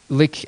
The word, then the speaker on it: LyX: um pronounced a lick but l yx and it's capital L little